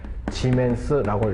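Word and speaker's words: Siemens: 그리고 요거 S라는 단위는 지멘스라고 읽어주시면 됩니다. 지멘스.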